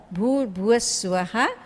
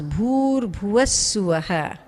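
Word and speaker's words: भूर्भुवः स्वः: Bhuh Bhuvaha Swaha becomes Bhur Bhuva Swaha.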